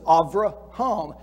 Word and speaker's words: Avraham: say abraham avrah because the beth in his name does not have the little dot in the middle and so it's pronounced more like a v than a b so avraham is the way they